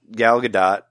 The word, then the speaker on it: Gal Gadot: Did you know, I wanted to tell you, did you know that, like, she has a Gal Gadot, that's how you pronounce her name.